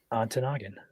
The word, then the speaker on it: Ontonagon: I don't think I pronounced the county wrong. What county? Ontonagon. Ontonagon.